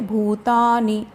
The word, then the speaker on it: भूतानि: gamma भविष्य पूरा बोलेंगे भूत आणि नाम को और दीर्घ नहीं करना है प्लस करना छोटा बोलेंगे भूतानि धार व्यायाम यह मोजे